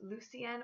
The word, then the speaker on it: Lucien: This name can also be pronounced Lucien or Lucian and can be spelled L-U-C-I-E-N as well.